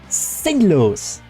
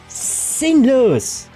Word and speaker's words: sinnlos: German like meaningless, senseless, but you can pronounce it in such a way that it is very sharp. You can say sinnlos, you know, sinnlos.